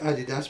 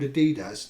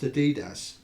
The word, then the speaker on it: adidas: that around yeah yeah and everybody calls it adidas but you know you know the brand is actually called adidas don't you no yeah it's supposed to be pronounced adidas okay yeah short cold day he's got a